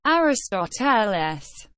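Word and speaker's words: Ἀριστοτέλης: Pronounced Aristoteles.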